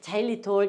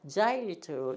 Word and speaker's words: xylitol: 그래서 xylitol, xylitol 이렇게 읽어. xylitol 이게 아니라 xylitol 이렇게 읽어요.